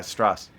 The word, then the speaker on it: Stras: they multiple times that a judge is it Strass is that how you pronounce it? Yeah, Strass.